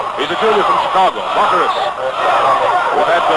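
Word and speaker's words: Bachouros: To beat Baccharis. I'll spell his name again for you. B-A-C-H-O-U-R-O-S. He's a junior from Chicago. Baccharis.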